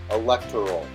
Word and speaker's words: electoral: Newscasters say this word as electoral all the time, when actually it's only pronounced electoral.